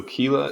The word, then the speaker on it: chela: right Kila Kila Kila so Kila is the correct word for claw interesting so yeah that